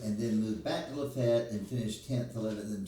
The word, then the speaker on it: Lafayette: And um I am from Lefett, Alabama, which is spelled Lafayette, but everybody in Lefet calls it Lefet.